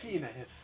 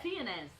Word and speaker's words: Fiennes: I never knew how to pronounce it. Fiennes. Yeah, Fiennes.